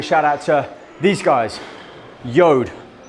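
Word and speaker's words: Jord: out to these guys yod pronounce yod j-o-r-d they make uh these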